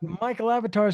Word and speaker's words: Mikael Avatar: But Michael Avatar spells it with a K and it's still pronounced the same.